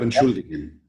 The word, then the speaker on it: entschuldig: We have the verb entschuldigen. Ich entschuldige. Du? Entschuldigst. If we take out do and the ending st, how will it be pronounced? Entschuldig. Entschuldig, because this ig is pronounced ich.